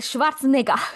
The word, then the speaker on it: Schwarzenegger: Y nos muestran a Arnold Schwarzenegger Schwarzenegger. con la pronunciación, con la pronunciación alemana del apellido de Schwarzenegger, siendo un robot, pero nosotros pues, en ese momento no sabemos.